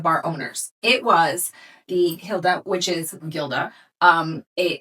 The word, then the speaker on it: Gilda: So, it is the hilt. Hilda. Okay. However, in English it would be pronounced Gilda.